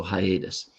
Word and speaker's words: hiatus: Usually one of them will be silent, but here it is not. So, hiatus.